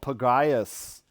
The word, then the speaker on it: Pagaius: I am called Pagaius. There's a soft R in there if you missed it. Pagaius. It's like a guttural, like you barely can hear it.